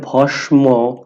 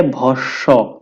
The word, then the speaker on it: ভস্ম: নাম্বারে যেটা আছে কি অনেকেই এটাকে উচ্চারণ করে ভস্ম যেহেতু এখানে ম ফলা আছে কিন্তু এটা ভস্ম হবে না এটা হবে ভস্ব দন্তস টা দুইবার উচ্চারিত হবে এরপরে যেটা আছে আমরা